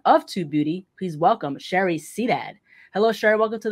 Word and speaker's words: Sharareh: How you pronounce it? Sharareh? Sharareh.